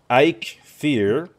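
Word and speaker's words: Eikthyr: kick region yeah okay samuel patrice says it's ike fear okay well it's is i don't know if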